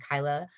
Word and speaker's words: Kyla: all e's j-e-n-e-e and kyla k-y-l-a uh i always say it's like kyle instead of an e a vagina on the end and people seem to